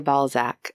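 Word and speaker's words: Balzac: French author hore deak in America we say bzac so I got to get used to this pronunciation okay their friendship began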